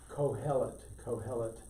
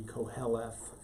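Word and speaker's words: Qohelet: This sound is pronounced in Hebrew like a K, so it's kohelet.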